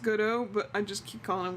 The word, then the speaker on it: Godot: I love Got It. I was told that his name is actually pronounced Godot, but I just keep calling him Got It.